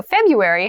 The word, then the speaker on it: February: january february february february so february has an interesting spelling that first r isn't really pronounced february is the shortest